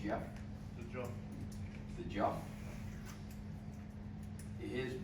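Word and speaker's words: Geoff: I don't know if anybody realizes that, but this Jeff cock of his, which pronounced G-E-O-F, but he pronounces it Jeff, The jump.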